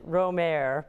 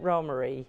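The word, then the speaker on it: Romare: doesn't it well it does just about everybody pronounced it Rohmer but he himself pronounced it ro Murray robbery okay all right so it's Roma do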